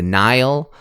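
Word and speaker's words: Nihil: main villains will be the nile uh it's spelled n-i-h-i-l okay uh and these are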